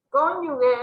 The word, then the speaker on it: cónyuge: Recuerden que cónyuge es sin el dígrafo, GU, ¿sí? Porque tienen sonidos fuertes de la G. Cónyuge es la palabra correcta.